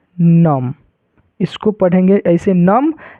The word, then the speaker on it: नमः: इसको पढ़ेंगे ऐसे नम, लेकिन विसर्ग लगा हुआ है तो इसको क्या पढ़ेंगे, नमः। यहाँ पर भी इसका अर्थ क्या हो जाएगा, इसको उच्चारण करेंगे तो क्या हो जाएगा, नमः, समझ गए आप लोगों को, ह पढ़ना है।